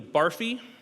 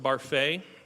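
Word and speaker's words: Barfée: 1 of you played the part of William Barfy, or maybe it's pronounced Barfay, in your school's production of the 25th annual Putnam County Spelling Bee.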